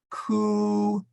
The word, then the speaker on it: cuius: Now that's actually a short I. So you try and make it a short I, but I think it's going to come out as a long I no matter what you do.